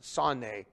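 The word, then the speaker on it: שָׂנֵא: we would say sane that's how we would pronounce it sanne but we would write it sane s-a-n-e the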